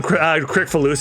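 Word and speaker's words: Kricfalusi: I should point out, it's pronounced John Crickfalusi because it sounds like we're slandering John Krasinski, who is Oh no.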